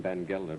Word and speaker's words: Baccarratti: They pronounce his name Van Gelder, but it's spelled Baccarratti. May I present the Honorable Henrik Van Gelder, my father, the Honorable Ezekiel Martin.